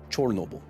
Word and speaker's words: Chernobyl: Discord that's interesting aside I'd still use the more widely known pronunciation of Chernobyl because of whose fault it was yes chore Noble I agree I'm just